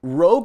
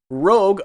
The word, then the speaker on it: Rogue: means red in French Rogue R OG e is the way to do it I'm just saving you guys from some future embarrassment Rogue not Rouge I said in my